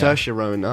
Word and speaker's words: Saoirse Ronan: But it's about Saoirse Ronan. I can't remember her. Saoirse character. Ronan, yeah. Saoirse Ronan. There you okay. go, more pronunciation.